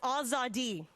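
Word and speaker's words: آزادی: back of my neck it's pronounced azadi and i think about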